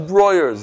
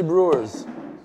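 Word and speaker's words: Breuer's: I know it's Broyers. Why did I say Brewers?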